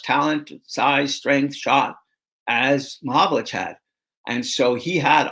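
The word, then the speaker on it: Mahovlich: he would intentionally mispronounce his name. He would call him Mahalovich and uh and that really bothered Frank.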